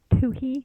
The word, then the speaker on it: Twohy: Twohy. the H is silent.